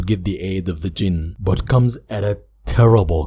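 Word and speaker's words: jinn: The genies that he's talking about is a wrong pronunciation of the Arabi word jin, which is a plural term.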